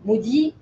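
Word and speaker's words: MODY: Alors maudit, je précise, c'est maudit M-O-D-Y. Ça s'écrit pas maudit comme malédiction, mais c'est M-O-D-Y. Donc c'est un diabète qui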